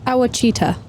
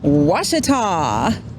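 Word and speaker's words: Ouachita: I think it's Awachita. Actually? Say it again. Actually? Ochita. The actual pronunciation is Washita.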